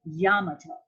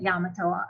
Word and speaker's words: Yamato: no e uh and yamato now that is how you say it yamato or yamato um i have a